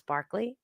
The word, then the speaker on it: Berkeley: From him stem both the idealism of Berkeley, which they pronounce Barclay, and Hume, and the materialism of such philosophers as Lamettrie and Holbach.